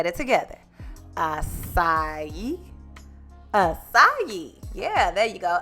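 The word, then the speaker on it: açaí: Acai. Acai. Yeah, there you go. Acai. I said it wrong, fella. I was like acai, but it's acai berries.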